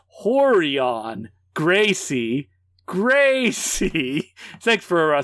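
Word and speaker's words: Rorion: UFC was a Brazilian jiu-jitsu teacher named roron pronounced horon Gracie Grace thanks for spelling that out for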